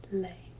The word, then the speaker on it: les: for every single one he's pronounced lay like lay down for a delay